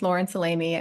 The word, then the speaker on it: Lauren Salame: right thanks so much Faith um you actually pronounced my name quite well my name is Laurence alamy I'm an ultrasound faculty member at Brigman Women's